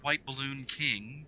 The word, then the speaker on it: WHTBLLNKING: Well, my Twitter is at, it's pronounced White Balloon King, but since Twitter only allows a certain limited amount of characters, it's spelled at WHTBLLNKING.